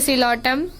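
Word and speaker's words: Psilotum: Please के पी से होगा आप सिलोटम, और पी तो साइलेंट होता है इसलिए सिलोटम।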